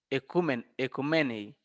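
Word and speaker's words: οἰκουμένη: Como les decía a ustedes, ecumenismo viene del griego oikomenen, oikomene, aunque se pronuncia en griego moderno, ecumenei, tierra habitada.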